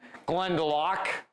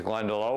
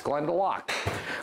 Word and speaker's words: Glendalough: This is the Glendalough which is how it's pronounced, by the way. And if you think it's Glendalough, which I always did, then it turns out we're wrong. It's Glendalough.